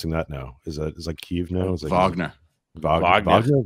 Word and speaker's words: Wagner: in in in Wagner Vag how are we pronouncing that now? Is that is that Kev now? Is that Vagnner Vagna Vagnner? Wagner.